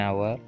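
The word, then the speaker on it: hour: പക്ഷേ ഈ എച്ചിൽ തുടങ്ങുന്ന ചില വാക്കുകളുടെ ഉച്ചാരണം വവൽ സൗണ്ടിലാണ് തുടങ്ങുന്നത്. അങ്ങനെയുള്ള വാക്കുകളുടെ മുന്നിൽ നമ്മൾ എന്ത് ചേർക്കണം? ആൻ ഉപയോഗിക്കണം. അതിന് കുറച്ച് ഉദാഹരണങ്ങളുണ്ട്. An honest man, an hotel, an അവർ എന്നിവയുള്ള.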